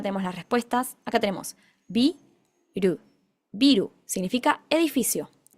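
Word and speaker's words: ビル: Acá tenemos bi ru, biru, significa edificio. Ojo, no confundir con biru, biru, con vocal larga, la i larga, que eso significa cerveza, pero en este caso biru, edificio.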